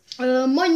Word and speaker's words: moin: manchmal sagen oder meinte man muss halt auf die aussprache auf was nicht dass man meint sagt mainz heißt nämlich dass sie